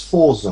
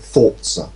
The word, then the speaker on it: Forza: about this was that nobody could pronounce Forza properly yes there's no tea in it I say the only people that could pronounce it with people developing it and everybody else called it thoughts yeah that really annoyed